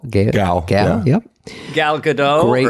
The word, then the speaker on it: Gal: Gal? Gal.